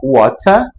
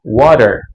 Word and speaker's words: water: Por exemplo, na palavra water, você não pronuncia o R final, você só alonga o no final, esse e né?